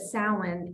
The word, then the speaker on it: Samhain: So the tradition is that it's associated with an ancient Celtic festival called Samhain. If you were to see the word, you would not think that's how it's pronounced.